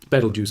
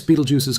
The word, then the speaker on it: Betelgeuse: Betelgeuse itself, which most English speakers pronounce to rhyme with juice, actually comes from an Arabic phrase meaning something close to the hand of the giant.